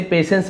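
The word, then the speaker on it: patience: पेशेंस इसे पेशेंस पढ़ेंगे। टी को है ना आप समझ जाइए नहीं पढ़ना है आपको पेशेंस एंड फेथ।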